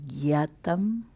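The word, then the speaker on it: jñātam: When you see this combination J and N with the tilde on top, it is Jya originally, and we pronounce Gya. It is North Indian style. Gyatva and Gyatam. A regular J without the N after it is just a J sound.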